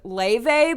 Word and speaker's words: Laufey: I'm obsessed with this girl named Laufey, but it's spelled Laufey.